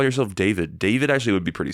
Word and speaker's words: D4VD: So anyway, that's D4VD, which I think is pronounced David.